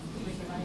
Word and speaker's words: Fukushima: Pay attention to fu sound, and you have to whisper fu. So it's and there is a pitch fall after fu. Fukushima. Fukushima. Fukushima. Repeat after me. Fukushima. Fukushima. Fukushima. Fukushima. Fukushima. Fukushima. Now you don't say Fukushima. That's what we used to say.